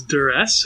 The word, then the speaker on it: duress: right so that was duress hopefully i made it clear that i was saying that with two syllables and it's not just about i taking a cute little piece of fabric um so one of the